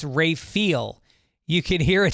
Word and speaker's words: Raphael: It isn't Raphael like the painter or turtle, it's pronounced Ray-feel.